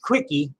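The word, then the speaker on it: CWCki: launch their own wiki CW CK I pronounced quickie which exhaustively chronicled every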